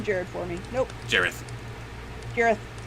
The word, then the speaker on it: Jareth: I refuse to think of it as Jared. Nope, you're not ruining Jared for me. Nope, Jareth. Jareth.